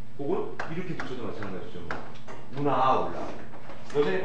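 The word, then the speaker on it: aula: 아울라 첫 번째 강세 뭐죠?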